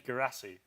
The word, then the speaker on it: Guirassy: No, his name's Guirassy.